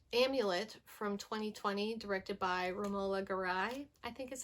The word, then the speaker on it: Romola Garai: I watched Amulet from 2020, directed by Romola Garai, I think is how you say her name.